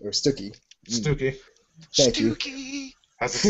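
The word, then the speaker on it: Stookey: I'm gonna say his last name wrong. Bob Stuckey or Stuckey. Stooky.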